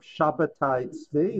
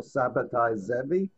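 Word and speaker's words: Sabbatai: You may be familiar with the name of Shabati or Sabati. Either pronunciation seems to me fine.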